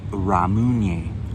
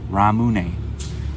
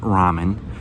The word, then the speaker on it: Ramune: update i've looked it up and it is pronounced ramune ramune so it's not ramune don't call it that and it's not ramen it's ramune um that's why it's always good